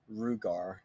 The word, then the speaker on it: Ruger: Everybody says Ruger as we typically hear it, but phonetically Rugar.